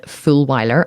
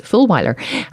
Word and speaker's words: Fulwiler: Her name is Jen Fulwiler, and yes, it is spelt as you would think it is, Fulwiler.